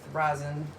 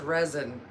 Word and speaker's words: rosin: some dabs, work with rosin and whatnot. I always thought it was resin, but there it's spelled with an O, so it's rosin, I guess.